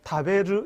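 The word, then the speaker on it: 食べる: 우리 한글로 정확하게 표기 다베루 이렇게 해서 루가 아니라 르 이게 일본어 정확한 발음이에요 어쨌든 먹다 단어가 다베루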